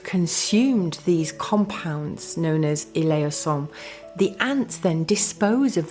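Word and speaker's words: elaiosome: Now it's spelled E-L-A-I-O-S-O-M-E. And you pronounce it eleosome.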